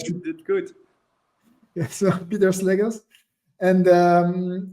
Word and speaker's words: Pieter Slegers: So it's Pieter Slegers. Do I pronounce that well? Because my mother is actually Flemish. Good. So You did good. Yeah, so Pieter Slegers.